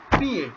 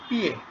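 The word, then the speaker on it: piję: উপরে accent pitch দেখেন এটার উচ্চারণটা কি পিএ পিআই জে ই ইন নিচে দাঁড়িয়ে হ্যাঁ পিএ পিএ মানে হলো আই ড্রিঙ্ক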